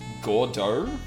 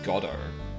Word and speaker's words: Godot: Gordo? Really? Because I just looked it up and it seems like it's pronounced Goddo.